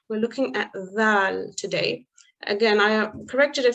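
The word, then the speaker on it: ذال: The tip of the tongue slightly comes out of the mouth like tha, but there is more vibration. The tongue is pressed against the edge of the upper teeth, and slight air should escape. So notice it sounds very similar to the tha, but it's a Z sound rather than a S sound.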